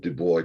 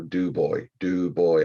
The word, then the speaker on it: Du Bois: I mean, there's a pronunciation and I rarely get it right. People of Du Bois, Pennsylvania, yes, I know. Du Bois, I get it, I understand.